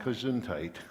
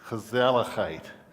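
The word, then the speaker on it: gezellig: Um, in Holland, uh, which is where my heritage comes from, it's an almost unpronouncable world word called, not kunite, kazalite.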